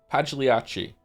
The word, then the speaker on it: Pagliacci: I know this joke, but how do you say the name of Pagilici? Pagliaci? Pagliacci.